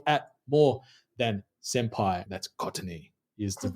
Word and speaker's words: Courtney: That's Courtney is the right way to pronounce that bad boy.